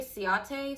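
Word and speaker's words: Ciaté: How do you say Ciate? C-I-A-T-E with the accent over the E.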